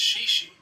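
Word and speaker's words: 谢谢: Another essential phrase is xie xie, which means thank you. It's pronounced kind of like she she.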